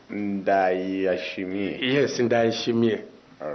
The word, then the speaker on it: Ndayishimiye: Indishimai, something like that. Okay. I'm not really sure of the right pronunciation. Ndayishimiye.